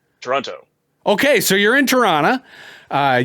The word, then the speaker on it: Toronto: okay so you're in Toronto uh you know the last tea is silent right um uh so Le